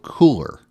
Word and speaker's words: Kuler: It's called Cooler, and it's spelled Kuler.